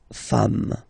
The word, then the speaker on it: femmes: s at the end, and as we said, you don't pronounce it, so you get des femmes.